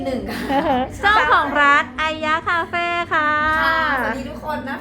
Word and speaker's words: ไอยะ: ก็ กำลัง เขียน ชื่อ ไอยะ ดี จริง ๆ ๆ เนี่ย ต้อง ออก เสียง ว่า ไอ้ ยะ ค่ะ ขอ วิธี ไอยะ คือ ไม่ ใช่ ไอ้ เงี้ย ไม่ ใช่ คำ ว่า ไซต์ ไอยะ ค่ะ อะไร เงี้ย เอ้อ ยิ่ง